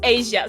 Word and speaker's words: Asia: I was going to pronounce that wrong. So the name is Asia.